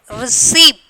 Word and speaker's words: receipt: Some people they will receipt they will pronounce, that is wrong pronunciation they are telling here. Receipt. Okay, receipt. Receipt, you know that. Can you get that receipt like that? Okay, paper. So here that P is the silent letters.